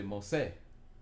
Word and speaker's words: mose: So you say mose, mose. You don't have to say that aggressively, but mose. You put the accent on the se part.